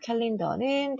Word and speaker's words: calendar: calendar는 달력이라는 뜻이에요. 이 calendar가 여러분들이 calendar라고 발음하지만 dar로 끝났어야죠.